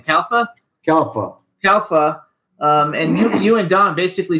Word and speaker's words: Calfa: How do you pronounce his last name? Calfa? Calfa.